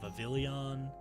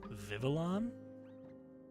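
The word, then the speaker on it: Vivillon: people thought it was vavilon um I've always said vavilon because that just made sense but according to him it was just vivalon uh which is bizarre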